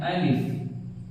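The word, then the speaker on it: الف: में आता है अलिफ, जिसको हम बगैर खींचे पढ़ेंगे अलिफ। कुछ लोग इसको खींच कर पढ़ते हैं जो कि गलत है। कुछ लोग कहते हैं अलिफ, ये गलत है। अलिफ ये सही इसका प्रोनाउंसिएशन है।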